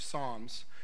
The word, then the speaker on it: Psalms: in the Book of Psalms if you look at it in your Bible it looks like opossums because the P is silent but in Pisans 4